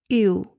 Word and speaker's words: ewe: El nombre de Raquel significa ewe. Así se pronuncia en inglés. Es E-W-E, que significa cordero.